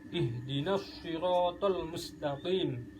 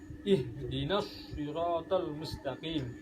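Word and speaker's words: اهدنا الصراط المستقيم: Hai kemudian selanjutnya ihdinashirotol ihdinashirotolmustakim tanda jadinya itu terletak diatasnya ini dia septuple ihdinashirotolmustakim Jadi bukan ihdinas ihdinashirotol ihdinas sirotol mustaqim lebih jelasnya bisa jadi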